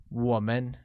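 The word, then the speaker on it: 我们: and see the break-up us translates to woman pronounced with a falling rising tone on oh let's take a look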